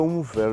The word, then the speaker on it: Unfer: un museo, ad un palazzo importante, il Palazzo Unfer, giusto? Ho detto, pronunciato giusto?